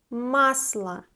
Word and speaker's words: Масло: Масло. Unstressed O is A. Масло. Pay attention. This one is сливочное масло and this one is растительное масло. For example, растительное масло can be подсолнечное масло or оливковое масло.